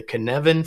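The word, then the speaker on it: Cynefin: and it's called the Knevan framework. Doesn't look like it should say Knevan. Just remember that it rhymes with Kevin.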